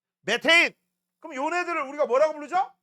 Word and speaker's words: 메테인: 그다음 CH4 뭐라고 읽어야 돼? 메테인.